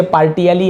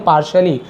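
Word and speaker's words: partially: the frog said, मेढक ने कहा, आई एम पार्शियली deaf, पार्शियली, इसे पार्टियली ऐसे नहीं पढ़ेंगे, पार्शियली श उच्चारण होता है, पार्शियली डीफ, पार्शियली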